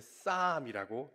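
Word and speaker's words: Psalm: PSAM이었나요? LM이었나요? 네. 근데 쌈이라고 읽습니다. 근데 정작 시편은 사람들이 이렇게도 살아가면서 시편의 첫 문장이 무엇을 말하는지는 깊이 생각하지 않습니다.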